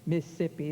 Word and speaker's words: Mississippi: Spent a lot of time in Mississippi, as he calls it, 3 syllables, in Georgia.